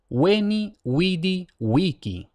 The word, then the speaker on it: veni, vidi, vici: la pronunciación en latín clásico es weni widy wiki varias cosas que hay que tener en cuenta la primera la v siempre se lee como W weni wied wiki no se lee como B no se lee como v labiodental y luego principal y